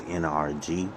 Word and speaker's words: NRG: this event it was nrg um the actual astroworld event was in a place called nrg which those letters phonetically sound like the word energy um so people said